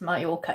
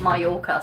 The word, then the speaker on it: Mallorca: Mallorca is pronounced Mallorca. Yeah, I only know that because of TikTok. Because he's a local, so he pronounces it Mallorca.